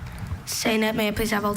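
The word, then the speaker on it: sainete: Are there any alternate pronunciations? Just the one, saynet.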